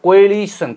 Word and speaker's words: coalition: on second syll second the second syllable gets stress upon okay L and on